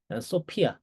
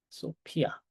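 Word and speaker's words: σοφία: 한국어에서 피읍 발음이기 때문에 소피아 이렇게 읽으시면 돼. 네. 소피아 이렇게 읽으시면 되고요.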